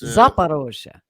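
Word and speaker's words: Zaporizhzhia: I hope I pronounced that right. Did I pronounce that right? Zaporozhye, yeah. It's Zaporozhye. Okay.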